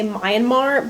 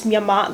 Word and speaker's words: Myanmar: was going to say a lot of people say myanmar but it's myanmar that's how you pronounce it if you know